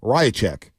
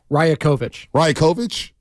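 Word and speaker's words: Rajaković: Toronto Raptors coach, Darko Rajacic. Right? Is that right? Rajacic? Rajakovic. Well, Langford told us Rajacic. Rajakovic. Put that down for mispronunciation of the year for next year.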